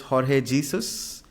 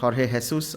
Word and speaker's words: Jorge Jesus: and their coach is Jorge Jesus or Jorge hesus I I think that's how he's pronounced uh alhilal is a